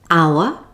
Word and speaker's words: hour: Did you notice the last word air has a silent H at the beginning? Here are a few more words with a silent H. Hour, honour, honest, exhausted, vehicle, and ghost. I'm hungry.